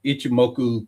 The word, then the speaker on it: Ichimoku: He was like, "Ichimoku Cloud." I don't know if I pronounce it right.